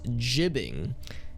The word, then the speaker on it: gibbing: i've been informed that the proper way to pronounce gibbing is jibbing because it's short for giblets which makes all the